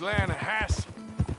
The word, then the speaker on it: Lanahatchee: The Lanahatchee. It runs right near here. Yeah, but it's pronounced Lanahatchee.